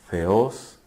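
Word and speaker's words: θεός: de dos palabras griegas feos y logos teos logos teos o mejor pronunciado feos significa Dios y logos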